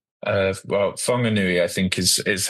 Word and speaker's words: Whanganui: I don't know if I'm going to pronounce it correctly. The Wanganui. Well, Whanganui, I think, is how I've Okay.